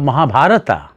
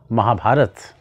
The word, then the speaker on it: Mahabharata: ramayana start saying ramayana instead of mahabharata say mahabharata instead of arjuna say arjun